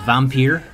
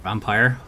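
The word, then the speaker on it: Vampyr: one game next month as vampeer or vampire depending on how you want to pronounce it I'd say peer cuz there's no e at the end from don't nog games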